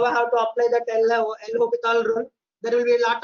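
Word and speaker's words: L'Hôpital: This spelling will be hospital, but this this S is silent. S is silent. L hospital rule.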